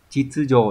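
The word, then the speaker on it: 秩序: Thì chữ này đọc là chitsujo đúng nhỉ? Không có trường âm.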